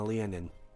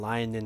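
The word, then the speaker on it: Leonin: yeah you're warforged you're a lion and leon and lyon depends on your pronunciation do you know where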